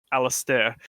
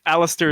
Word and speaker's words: Alistair: thing about well my the actual correct pronunciation is is alistair but you know the alistair is close enough but i have had